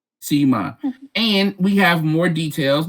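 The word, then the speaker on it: Sema: Am I saying Sima or is it Simi or is it Sima? Sima.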